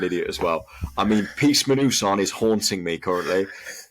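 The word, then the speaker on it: PEACEMINUSONE: Are you sure that's not pronounced Peace Minnesota? I can keep this in the podcast, but I don't want you to look silly. No, is the problem. No. So I don't know whether you want to pronounce that. Do you want to say that properly? Yeah, sorry, it's the Peace Manusan.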